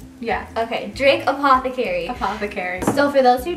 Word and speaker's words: Drake Apothecary: Her name is Michelle from Drake Apothecary. Did I say it right? Yeah. Okay, Drake Apothecary.